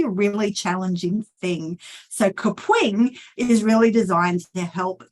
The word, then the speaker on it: Kapwing: It has a certain pronunciation. It's Kapwing.